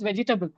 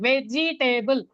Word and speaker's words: vegetable: to say vegetable and they used to say vegetable vegetable and finally I got confused what was the pronunciation and I also started repeating that and then I realized oh it is vegetable and then I again I told them vegetable and then again they said veggie table.